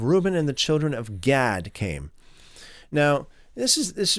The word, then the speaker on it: Gad: You can have God here, okay, the children of God, the tribe of God. That's that's the way that it would be pronounced in the Hebrew.